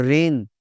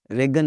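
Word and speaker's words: reign: और रेन, दौरे हुकूमत, रेगन नहीं बोलना जी।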